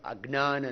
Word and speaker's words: अज्ञान: This is the right pronunciation, not अज्ञान, नॉट अज्ञान, अज्ञान। जय प्लस य मिलके ज्ञ बनता है।